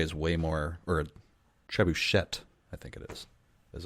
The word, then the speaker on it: trebuchet: whether you're going with the French ish pronunciation where trebuchet would be you wouldn't pronounce the T and I was at